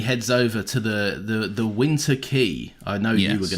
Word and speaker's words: Quay: He gets his $25, and he heads over to the Winter Key. I know you were going to pronounce it as Quay.